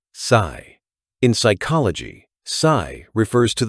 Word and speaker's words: psi: PSI from the Greek letter sigh pronounced sigh.